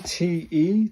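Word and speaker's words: て: TE, this has 1 stroke, 2 stroke, 3 stroke. Pronounce that the TE in 10, so it's a te, isn't it? It's a te sound.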